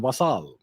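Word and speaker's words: vassal: once again a U.S vasel state yes I use the French pronunciation vasal so uh Pakistan is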